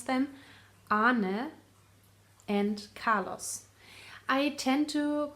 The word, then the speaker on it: Arne: Moon Night, designed by Arnie and Carlos, or how you really should pronounce them, Arne and Carlos.